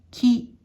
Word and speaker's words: 気: 音読みでき、きと読みます。